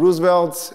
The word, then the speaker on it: Roosevelt: as I said and Roosevelt is a bastardized Dutch name with a real census pronounce Rosen felt then he dodged people